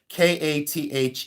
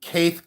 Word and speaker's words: Käthe: It's k a t h e. Um They say Kath, but it's um Kate. A lot of people say Kate. But it's um Käthe Kollwitz.